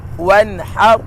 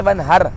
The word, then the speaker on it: وانحر: پڑھنا، فصلی لربک وانحر، وانحر۔ اکثر را کو لائٹ کر دیتے ہیں، پڑھتے وانحر، وانحر نہیں ہے، ہا ہے، وانحر، ان شانئک، ان شانئک،